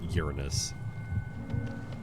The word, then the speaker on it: Uranus: so I was like I'm going to call it as it actually is Uranus it's the proper pronunciation and I'm all about